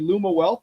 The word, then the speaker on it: Lumiwealth: Pronouncing it correctly. Lumawealth, right?